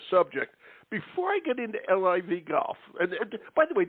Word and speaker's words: LIV: live or livv how do you like I yeah yeah we we is live golf so it's spelled livv and you're right there